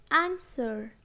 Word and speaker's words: answer: Answer, to, and sword. In these words, letter W is silent. Answer, W is silent.